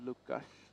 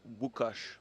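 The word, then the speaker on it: Łukasz: this is I believe lucash yes it is I think it's wush oh it's like pronounced the L with the dash it's like almost like a w oh yeah yeah that's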